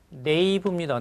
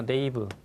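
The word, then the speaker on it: knave: 여러분 5번은 이렇게 정리하세요 발음이 네이브입니다 네이브 악당입니다 네이브 악당 단어는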